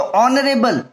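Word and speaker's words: honorable: जिसे ऑनरेबल मैं तो ऑनरेबल इसमें भी क्या है ऐड साइलेंट है यानी चुप है जब इसको पर डांस करेंगे तो ऐड चुप रहेगा यानी की आवाज नहीं आएगी तो यहां पर ऐड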